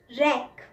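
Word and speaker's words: wreck: डब्ल्यू, रैक। रैक इसमें W silent होता है, हम र से शुरू करते हैं और र पे बहुत ज़्यादा जोर डालते हैं।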